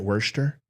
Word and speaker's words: Worcester: oh it it is it's worser isn't it Worster see that's like Worchester but we're not talking